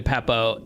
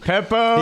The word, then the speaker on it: Beppo: What is it supposed to be and what do I say? Beppo. It's supposed to be Beppo. Yeah, and you said Peppo.